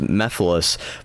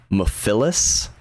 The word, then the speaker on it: Mephiles: Like I know one was Mephiles, which is properly pronounced Mephiles, but in the presentation, I don't know why, but they pronounced it Mephiles. Like they really emphasized the Phyllis, and that like rubbed the whole, like Twitter kept posting Mephiles, like Milady, but Mephiles.